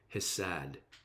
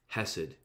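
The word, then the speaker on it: חסד: merciful kindness is great that hebrew word is hasad sorry i'm trying to say it properly hasid and get this it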